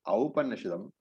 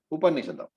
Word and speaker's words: Aupanishadam: Aupanishadam is not the same as Upanishad. Okay, the word is Aupanishadam. Aupanishadam, not Upanishadam.